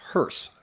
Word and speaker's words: hearse: 2, it's pronounced hearse, not Hearst. There's no T in it.